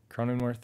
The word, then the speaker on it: Cronenworth: Jake Cronenworth.